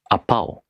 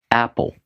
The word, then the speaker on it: apple: For example, apao. Apao. Did you eat an apao? What did I say? I said apple. But placed stress on the second syllable.